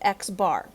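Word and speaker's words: x̄: bar over top of it and we actually pronounce it x bar okay that represents the set of observations that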